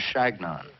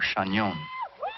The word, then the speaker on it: Chagnon: I told them that it was Chagnon, or Chagnon, but they couldn't pronounce it. It sounded to them like their name for a pesky bee, Shanki, and that is what they decided to call me.